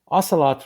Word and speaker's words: ocelot: is pursuing topological cubits ocelot rhymes with Camelot and Lancelot but it is a